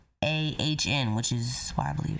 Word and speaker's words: Asiahn: So I think her name is Asiahn, but it's spelled Asiahn, which is what I believe it's called. It sounds like Asian.